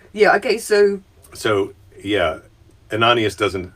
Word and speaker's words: Ananias: in damascus uh of jesus called uh an anonymous not anonymous ananias and i'm not going to look and make